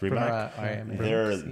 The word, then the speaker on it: Rimac: The new Rimac or Rimas, how is it Rimac. Pronounced? Rimac.